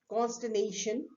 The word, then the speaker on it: consternation: the next word is consternation consternation where R is silent and what exactly does